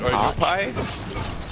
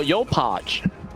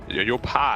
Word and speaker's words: Yopaj: Is it Yopaj or Yopai? No, Yopaj. Yopaj. It's Yopaj. Okay. Yeah. Yopaj. Yeah, but J sometimes can pronounce as I too.